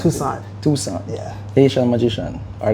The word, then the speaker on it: Toussaint: pronounce your last name cuz I can't pronounce. Tucson.